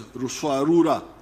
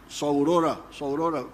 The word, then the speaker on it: Ruswarura: came to understand as Ruswarura. When you read, I think it is Speak, Understand, they write Saurora, but they were mispronouncing the name.